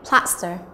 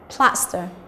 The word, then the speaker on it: plaster: Chúng ta có number 3 này, plaster, là trọng âm thứ nhất, plaster.